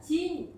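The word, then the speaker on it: 基因: 그리고 이제이 유전자 AKG 아 자 지인 지인이라고 읽습니다. 중국식 발음으로 진 AKG라고 읽는데 지인은 유전자라는 뜻이에요.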